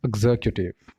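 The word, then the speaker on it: executive: No, this is एग्जीक्यूटिव। एग्जीक्यूटिव। इसके भी 4 syllable हैं। एग्जीक्यूटिव, एग्जीक्यूटिव, एग्जीक्यूटिव, ठीक है। इसको ऐसे प्रोनाउंस किया जाता है।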